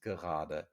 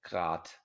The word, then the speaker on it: gerade: Y muchas veces no se pronuncia la E en esta palabra. Ninguna de las dos E se dice grad, grad, spinnt grad o gerade, ¿vale?